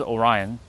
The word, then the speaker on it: Orion: There's two ways people say that name, Orion and Orion. It is Orion, but like for those who have a hard time pronouncing Orion, they say Orion.